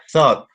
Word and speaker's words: thought: this case is that the a th which has the interdental sound so it's thought okay is kind